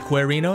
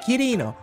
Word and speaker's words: Kirino: Instead of Querino, is it Kirino?